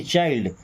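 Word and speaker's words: child: चाइल्ड, चिल्ड नहीं चाइल्ड, चाइल्ड का मतलब होता है बच्चा।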